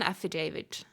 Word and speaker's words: affidavit: Affidavit. Affidavit. The David. So it's like a David.